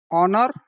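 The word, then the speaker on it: honour: प्रथम दुईटी शब्द हला ऑनर द्वितीयटी हला आवर तापर हला हाउस एवं होटल। तो कौन जना पड़े ना प्रथम दुईटी रे एच साइलेंट रूपे व्यवहार हुए एच रो व्यवहार आसुना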